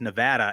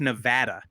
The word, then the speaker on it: Nevada: But they had another Mountain West, another team we were all high on is Nevada, and we did do a Twitter poll. It is Nevada.